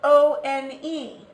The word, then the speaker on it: one: a vowel sound a this is spelled o n e but it's pronounced one which for us is a consonant and if you have